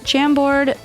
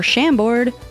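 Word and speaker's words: Chambord: The pink sunset is made with gold tequila, jam board or shamboard, however you want to pronounce it.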